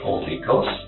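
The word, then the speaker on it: Olykos: So, the name that I go by is Holy Ghost. How do you spell it?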